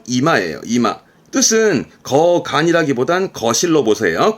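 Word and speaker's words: 居間: 이때 발음은 이마예요.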